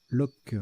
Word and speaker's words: loch: Lock, ça se prononce lock.